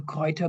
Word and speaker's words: Gruyter: new entity, sure, the Gruyter Brill, or the Gruyter Brill, as I should say with the more German pronunciation.